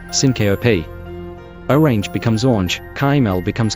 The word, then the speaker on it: syncope: When we cut a sound out of the middle of a word, it's called syncope, a 3-syllable word, syncope.